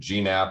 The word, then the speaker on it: GNAP: to pronounce the name of this protocol i pronounce it gnapp i've heard nap i've heard gene app i've heard lots of other strange permutations ultimately